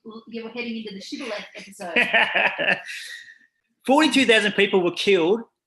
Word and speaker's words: shibboleth: And if he was from Ephraim, he would say Sibboleth. So that's different if you didn't hear that on Zoom. It's supposed to say SH, Shibboleth, but he would say